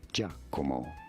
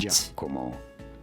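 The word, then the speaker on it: Giacomo: How do you go about pronouncing it? In Italy, it is said as Jako. What? Jako.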